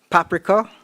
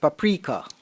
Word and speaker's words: paprika: Your first word is paprika, or it can also be pronounced paprika.